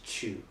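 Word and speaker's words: 中: It means inside. It's the onyomi is chu. So whenever you see this kanji, or this radical in a kanji, usually its onyomi will be chu.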